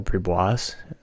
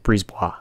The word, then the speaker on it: Brisebois: Could end up being the backup to Pascal Bribois. Or Brisebois. I always say it wrong. Brisebois. That's how you say it.